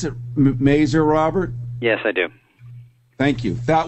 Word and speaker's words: Mazur: Do you pronounce it Mazur, Robert?